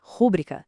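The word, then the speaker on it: rubrica: Vou perdeu o acento com o novo acordo ortográfico e a pronúncia certa é rúbrica, sem acento nenhum.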